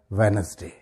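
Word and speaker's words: Wednesday: इसको अदा करते हैं इसमें भी डी तकरीबन साइलेंट है बोलते वक्त प्रोनाउंस करते वक्त इसका सही प्रोनंसिएशन क्या होगा वेनसडे वेनसडे ठीक है ना वेडनेसडे नहीं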